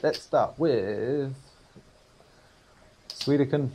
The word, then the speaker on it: Suikoden: Right, let's start with Suikoden 3. Am I saying that right? Because I never know if I'm saying it right. Is it Suikoden or is it Suikoden? Suikoden. Oh, Suikoden. Yeah, like soya stuff.